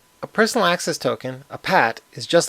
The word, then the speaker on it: PAT: I'll pronounce the acronym PAT as PAT.